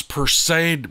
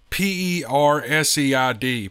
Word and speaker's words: Perseid: late to watch the, I can't pronounce this word, I think it's Perseid meteor shower at Strawberry Reservoir. P-E-R-S-E-I-D, Perseid or Perseid meteor shower at Strawberry Reservoir.